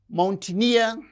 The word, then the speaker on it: mountaineer: And these words, mountaineer, engineer. So words that end with the suffix near receives stress on the suffix itself.